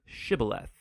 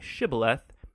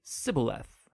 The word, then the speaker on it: shibboleth: and asked everybody who wanted to cross to pronounce the hebrew word shibboleth it turned out that the ephraimites had grown up pronouncing that word differently so instead of saying shibboleth they would say sybileth when that happened the gili knight guard would